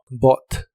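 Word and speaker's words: bought: Bot y significa comprado la ugh de esta palabra no se pronuncia Así que es solo Bot Bot Y estos son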